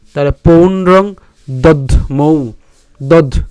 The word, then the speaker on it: পৌণ্ড্রং: ঠিক আছে, তাহলে পাঁচজন্যং হৃষিকেশ দেবদত্তং ধনঞ্জয় পৌণ্ড্রং, এখানে দন্তান্ন পর্যন্ত আগে উচ্চারণ করলাম পৌন, তারপরে উচ্চারণ করবো ড্রং, তাহলে পৌণ্ড্রং দধ্মৌ, দধ দ আর